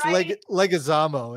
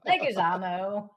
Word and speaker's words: Leguizamo: And it's Leguizamo is how it's pronounced, I'm sorry. Leguizamo. I'm trying to be all Italian.